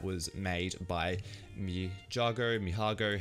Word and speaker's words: Mijago: new tool that was made by me jago mihago how we pronounce it uh and it's pretty much similar